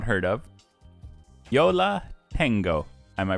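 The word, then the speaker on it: Yo La Tengo: is a band I have not heard of Yola tengo am I pronouncing that correctly yeah yes I don't know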